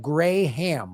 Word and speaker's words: Graham: But my name is technically pronounced like Graham, like Graham. Yeah, like the ham you don't eat. Yeah, you don't eat gray ham.